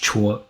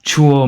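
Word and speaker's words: 辶: running there right so this character um it's pronounced Chu so chuo means to carry from one place to another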